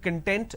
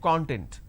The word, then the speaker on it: content: a different meaning altogether for example content and content these are two different words but we interchange a